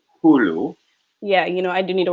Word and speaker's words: Hulu: It's pronounced Hulu.